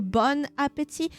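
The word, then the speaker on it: bon appétit: Bon appetit! Why, please, remember one thing. You do not pronounce the last T. Bon appetit. There is no teeth.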